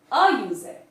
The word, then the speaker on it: user: We are going to use, a user. A user, not an. A user. Because pronunciation begins with YU.